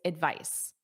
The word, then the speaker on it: advice: The noun is advice. Advice. The verb is advise. V. Notice that voice.